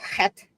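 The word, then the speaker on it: חית: Okay, that would be het. Good. That was a good pronunciation.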